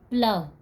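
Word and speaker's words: plough: High में GH last में आया हुआ है तो यह साइलेंट है। प्लाव, प्लाव में भी GH लास्ट में है तो यह साइलेंट है।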